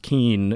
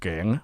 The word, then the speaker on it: Kien: my name's pronounced Kien is because I couldn't speak English. My name is actually pronounced Gang, which is very difficult to say.